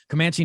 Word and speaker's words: Comanche: this reads set in the world of the comanche is that how you say it right you guys yeah that was yeah making sure i'm saying it right comanche nation uh 300 years ago the action thriller